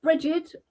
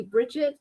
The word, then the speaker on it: Bridget: It's Bridget. My English friends call me Bridget and the American my all my American friends say Bridget, so And spirit says I I use both.